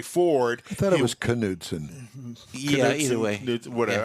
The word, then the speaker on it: Knudsen: look at it, Bunkie Knudsen was the uh he worked for Henry Ford. I thought it was Knudsen. Yeah, either way. Yeah, whatever. I always called it Knudsen. Cuz the K is silent.